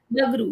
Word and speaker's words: Bagru: further, may I just ask, when you said that Bagru, if I'm spelling it, I'm Bagdu, pronouncing yeah. correctly, Bagru, yeah.